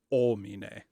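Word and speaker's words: homine: in with so the word ominae there h-o-m-i-n-e don't pronounce the h just go oh me-na can everyone say that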